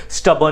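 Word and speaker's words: stubborn: स्टब don't be स्टब इसको क्या पढ़ेंगे स्टब कहेंगे ठीक है आर थोड़ा सा साइलेंट होता है डोंट बी स्टब फिर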